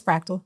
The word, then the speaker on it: Frakktal: be pronounced correctly but it's fractal that's it like the mathematical concept of fractal which is just um